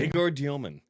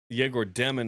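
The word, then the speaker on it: Egor Demin: Which, how do you pronounce Yegor's name now that he's in the NBA? Yegor Dioman. I joke that Yegor Demon is the BYU version of him, and now Dioman's the Nets guy.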